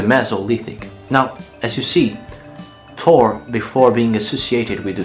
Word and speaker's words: Thor: Thor Well, it is pronounced Tur/Tor but I'll just say it "Thor" well, Thor is, of course, as you well